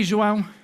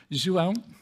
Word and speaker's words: João: And so my teacher asks me, hey, João, that's the right way to say it, João.